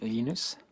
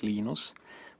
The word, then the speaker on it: Linus: i speak swedish it's venus when i speak finnish it's linos when i speak english it's linus and i really don't